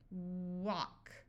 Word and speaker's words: walk: smaller call collar now if we have a and L before a k or an m at the end of a root word the a will also have the broad a sound also the L will be silent so here we have a l and then a k so this a will have the broad sound of a but the L will be silent talk walk stock here we have a